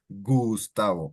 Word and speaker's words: Gustavo: So you wouldn't call Gustavo or Gustavo, or you would call him Gustavo, and that's how the G sounds in Spanish, with that G sound.